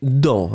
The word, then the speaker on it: dent: c'est féminin c'est une dent un on est d'accord le thé finale n'est pas prononcée vous prononcer uniquement la nasale une dent c'est une